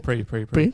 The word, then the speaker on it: Prix: Prix. Yeah. Pre. Free. The X is silent.